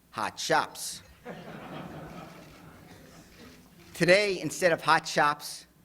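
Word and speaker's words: Hot Shoppes: And second, they were pronounced hot shops.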